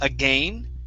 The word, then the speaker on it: again: four parts here uh first up the word again okay so uh even though there's an AI here okay we wouldn't use a long a saying again this is again short I again again okay one more